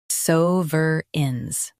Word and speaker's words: sovereigns: sovereigns sovereigns Stress suhs and keep uh-rins light. It's a smooth flow.